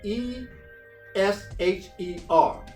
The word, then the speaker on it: esher: now the greek word for that is escher e s h e r and is pronounced esher and it means to be happy